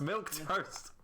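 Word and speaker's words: milquetoast: a millennium milling milk it's pronounced milk toast no not milk what the [ __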